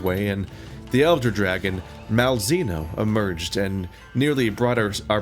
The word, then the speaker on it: Malzeno: I pronounced it both ways, now everyone can be mad. It's Malzeno. I can come up with more versions.